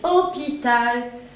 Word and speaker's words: hôpital: Il commence par un H, muet. Très bien. Hôpital. Alors, qu'est-ce que je vais mettre? Très bien. L apostrophe. Je dis l'hôpital et non le hôpital.